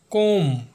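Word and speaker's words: comb: करना या फिर कण कई लोग इसे क्रम पढ़ते हैं जो कि गलत है हमारा नेक्स्ट एग्जांपल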